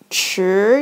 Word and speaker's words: 池: So it's pronounced as 吃 is the same as the horse, like 吃 very fast.